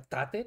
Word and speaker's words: Tate: saber cómo se pronuncia tate tate es claro el tío es de Rumanía no entonces la pronunciación inglesa como que sobra un poquito entonces a ver sobre